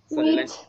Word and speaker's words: which: Which sadly is now ruled by a zombie. আচ্ছা, এখানে হুইচ বলতে নাই, উইচ হয় উচ্চারণ আসবে না।